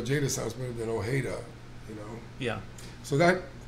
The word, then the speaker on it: Ojeda: better than people sometimes the J like an H yeah like Jose you know Ojeda but I like the way o Jada's house moving in Ojeda you know yeah so